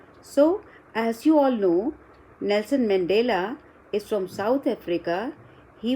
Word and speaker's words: Nelson Mandela: So, before we begin anything about it, I would like you to read this complete name of Nelson Mandela. How will you pronounce it?